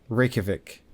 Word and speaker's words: Reykjavik: Reykjavik. Reykjavik. The J is like a Y.